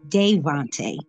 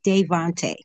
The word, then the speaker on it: Davohnte: little bit about Devonte the way you pronounce his name is Devonte a lot of us